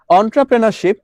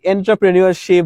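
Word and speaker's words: entrepreneurship: অন্ট্রপ্রেনরশিপ এটার যে উচ্চারণটা তোমরা কিন্তু অনেকে করতে পারো না। অনেকে হচ্ছে লাইক এন্ট্রাপ্রেনিরশিপ বা হচ্ছে অনেক কিছু বলো।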